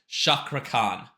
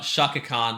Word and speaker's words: Cakra: I say it right shakran uh it's not shakan like the other group it's Shakra like your your sh like yeah that can't